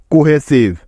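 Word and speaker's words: cohesive: সেই কাজটাই করা যাক আমরা এখানে দেখতে পাচ্ছি সি এরপরে ও আছে তার মানে এখানে সি এর উচ্চারণটা অবশ্যই ক এর মতো হবে তাইতো সেজন্য সি এর পরিবর্তে নিয়ে নিলাম ক তারপরে ও আছে যার জন্য নিতে হবে ওকার তাহলে সি ও মিলে হবে কু তারপরে এইচ আছে তাই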